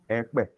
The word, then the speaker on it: Ekpeye: Can we pronounce it? Ekpeye.